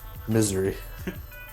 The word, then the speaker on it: Missouri: Missouri. That's an appropriate pronunciation of that state.